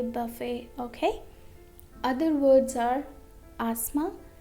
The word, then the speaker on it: buffet: Now letter T is also silent in some of the French words ending in et. Okay? For example, ballet, ballet, buffet, buffet, gourmet, gourmet.